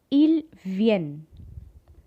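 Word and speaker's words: il vient: and for they come il vien look at the spelling very carefully ilvn ent silent and lvn okay guys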